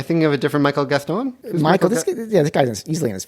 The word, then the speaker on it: Gaston: The first season, you got to see, I call him Michael Gaston. I'm guessing he pronounced it Gaston. Look, I've got 3 daughters. It's Gaston. Gaston.